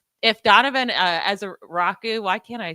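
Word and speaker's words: Ezeiruaku: Like if Donovan as a Rocku Why can't I say his name? Um I don't know. Hold on. Let me I I have it up. Eza Raku.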